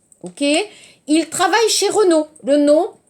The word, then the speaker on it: Renault: Renault, attention, 발음. Renault, Samsung, non. Renault.